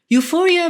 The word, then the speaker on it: euphoria: but also something called Euphoria Euphoria begins with the letter e yet it's pronounced with you directly Euphoria means a form